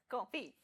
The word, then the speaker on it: confit: Confit. So what's the confit. It's pronounced Confit.